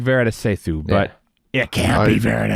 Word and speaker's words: Varada Sethu: It's Varada Sethu.